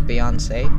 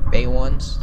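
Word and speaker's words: Beyoncé: i still don't know why it's pronounced as beyonce and not bay ones you feel me but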